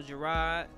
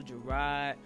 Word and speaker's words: Jerrod: I am Instagram official Jerrod. I spell my name Jerrod, not Jerrod. Everybody says Jerrod. I don't even know where they get this Jerrod from, but it's Jerrod. It's exactly how it's spelled.